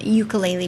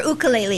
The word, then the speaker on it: ukulele: He's a world-renowned ukulele player, or ukulele, excuse me. I always mispronounce it.